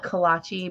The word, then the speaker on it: kolache: You say I call it kolache, but you said I say it wrong.